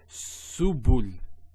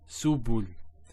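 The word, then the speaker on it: سبل: So to pronounce this has a S sound. So su, bu, and this is the lam, like the letter L. So subul, subul.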